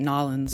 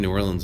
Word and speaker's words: New Orleans: I know you talked about you grew up in, I'm sorry, I should say it Nolans, but no, it's New Orleans.